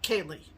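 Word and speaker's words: céilí: and it is the the uh dancing is pronounced uh kaylee yes um so um pam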